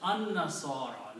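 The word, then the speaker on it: النصارى: So you will pronounce al and noon combined will be pronounced as an-nasara. Lam is not pronounced. So this word will be pronounced alif with the noon, and noon will have a shadda because lam is not being pronounced.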